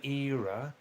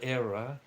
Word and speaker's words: era: Uh, Pinakish with the colonial era. Correct pronunciation era. Believe me, don't say colonial error. Error means mistake.